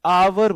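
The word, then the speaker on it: hour: इसे ऑनररी बोलते हैं, इसे आवर बोलते हैं। एच साइलेंट होता है तो पहले जो लेटर मुंह से निकलेगा वो निकलेगा ऑनररी, तो एन आएगा।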